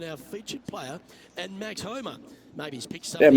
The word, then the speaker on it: Homa: Homa, that's how you say his name? Max Ho- Homa. That's how you pronounce it.